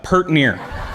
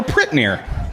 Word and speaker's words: pert near: But my favorite Okay, my second favorite is pert near. Okay, pert near or prit near. It's depending on which area here in county, it's pronounced differently.